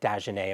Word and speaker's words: Dagenais: Julien Dagenais. Am I pronouncing that right?